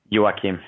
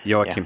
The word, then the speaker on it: Joachim: But Joachim, is that how you pronounce his first name? Your singer? Joachim. Joachim.